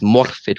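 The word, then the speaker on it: Morfydd: pronunciation of her name, because I was saying Morphe Clark, it's Morphe Clark.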